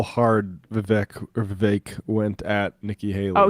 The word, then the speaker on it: Vivek: I mean, Vivek, rhymes with cake, brought a Sharpie and a notepad and then wrote Nikki equals corrupt.